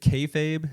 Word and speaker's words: kayfabe: Is it kayfabe? Is that how you pronounce that word? Yes, sir.